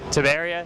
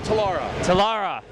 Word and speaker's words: Telara: booth we're here at uh rift plains of tabaria hilarious talara thank you nick this is nick he's going